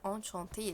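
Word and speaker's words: enchanté: والاو دي لو الكلمة لو انت بتتكلم مع بنت فانشانتي، هي الاتنين نفس النطق، انشانتي انشانتي، بس لو انت بتكتب يبقى تحط لها او.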